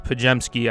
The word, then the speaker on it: Podziemski: Podziemski. But it's Pajemski, I know. Just I pronounce it the way I spell it.